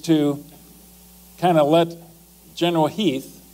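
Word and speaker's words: Heth: Lee's intent actually is to kind of let General Heath, it's spelled H-E-T-H, but it's pronounced Heath, to do a little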